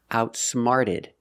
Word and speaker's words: outsmarted: Outsmarted. The t changes to a fast d sound.